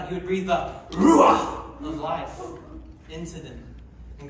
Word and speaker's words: ruach: Everybody say ruach.